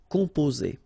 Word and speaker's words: composer: Okay, O and M together, after that a consonant, so it's the nasal on. Composer. Okay, you pronounce it Z here because you've got two vowels and only one S. Composer.